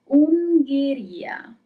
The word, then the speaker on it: Ungheria: Third word, Ungheria.